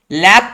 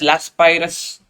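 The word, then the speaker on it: Laspeyres: I will call it by one name. The first type is called as Lappe index number. You might call it as Laspirus. Yes, I will call it as Lappe.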